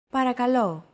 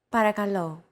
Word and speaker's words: Παρακαλώ: Don't forget that words get accentuated in Greek, so make sure to stress that final syllable with the accent mark. Repeat after Chrissy. Παρακαλώ. Παρακαλώ.